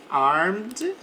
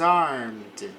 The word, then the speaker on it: armed: Armed. Então aqui não pronuncio o e para falar armado. Por exemplo, for example, the guard was armed.